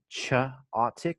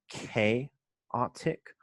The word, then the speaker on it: chaotic: So I will transcribe and give you pronunciation help. He said chaotic when it is chaotic.